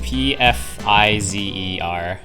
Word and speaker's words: Pfizer: know why yeah it's p pfizer p-f-i-z-e-r so just it's pfizer but the p is silent wait a minute